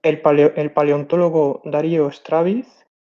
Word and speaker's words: Darío: en Portugal por ejemplo mi nombre no saben pronunciar bien solo me dicen Dario no Darío estoy acostumbrado No pasa